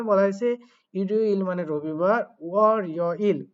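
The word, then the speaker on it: 월요일: এভাবে মূলত উচ্চারণ করতে হবে। এরপরে যেটা বলা হয়েছে এখানেও দেখেন রিগুলটাকে তুলতে হবে ওয়ারিওইল।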